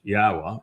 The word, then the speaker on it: Yahuah: one name is and how I proved that it is pronounced Yahuah and why it is essential for us to use it.